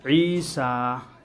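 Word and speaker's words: عيسى: अच्छा, ईसा, या कट गई, ईसा या कट गया।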